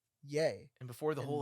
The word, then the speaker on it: Ye: yeah, people thought it was Yee instead of Yay.